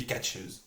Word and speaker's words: Katchouze: Like if a cat had shoes on, it would be Katchouze.